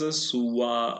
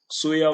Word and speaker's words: Suya: Okay, his prime minister Sura are also known as Suwa or Suya. Suya was better pronunciation.